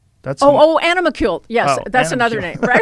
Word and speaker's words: animalcule: It's spelled animacule? That's Animalcule.